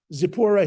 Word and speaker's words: Zipporah: he gave Moses zippura zippura is actually how it's uh pronounced uh it's zipporah his daughter and she